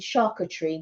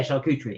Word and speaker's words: charcuterie: Yeah, because the Americans say it differently to the way that we say it. And so in my mind, I keep thinking of charcuterie, and that's not the way we say it in the UK.